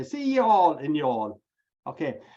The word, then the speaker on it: Youghal: And you haven't got a clue what I'm saying, but there's actually a town in Cork, County Cork, called Youghal, which is spelled Youghal. So he likes to say, "See y'all in y'all."